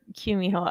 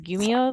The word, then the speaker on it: Kumiho: want to request, and someone suggested a Gumiho or Kumiho. It is spelled with a K and a G. I have only ever heard it pronounced as Gumiho though, so that's the one I'm going with.